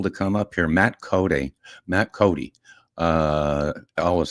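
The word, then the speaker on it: Coday: Matt Cody. Matt Cody. Uh, I always say spelled C O D A Y and pronounced Cody like Wild Bill Cody.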